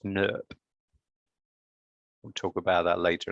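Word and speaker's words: snRNP: leads to my favorite acronym which is pronounced snurp we'll talk about that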